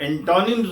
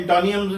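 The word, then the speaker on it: antonyms: एंटोनियम्स नहीं है। ये सिनोनियम्स नहीं है। ये सिनोनिम्स है।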